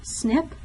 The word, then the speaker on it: SNP: with single nucleotide polymorphisms it's abbreviated SNP and it's pronounced snip a lot of folks